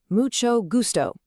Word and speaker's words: mucho gusto: It's mucho gusto. That she sound is just like in the word chocolate or cheese. And the g is a hard g, like in great.